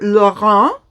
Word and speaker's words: Laurent: And then again for Laurent, you do not pronounce the T at the end, it is Laurent.